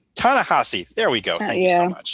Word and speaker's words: Ta-Nehisi: Really wish I remember how to pronounce his name. Ta-Nehisi.